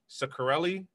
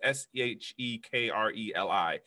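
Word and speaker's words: Shkreli: fund his name is Martin Ciccarelli I'm pronouncing it wrong but it's seh ek reli and what he did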